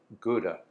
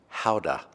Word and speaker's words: gouda: cheese I'm using this gouda actually I think it's pronounced actually it's pronounced houda it came already sliced